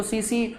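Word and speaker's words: tsetse: इट इज सीसी फ्लाई इसको सीसी बोला जाता है लेकिन टी से प्रोनाउंस करते हैं हम लोग ठीक है प्रोनंसिएशन हमारा सीसी है लिख कि से र टी से टी साइलेंट है यहां पर तो सीसी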